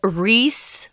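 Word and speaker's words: Ries: and it's a it's a huge crater they pronounce it nor linger Reese Reese crater and if something forms it comes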